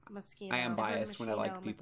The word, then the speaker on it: Moschino: I've also heard that it's pronounced Moschino.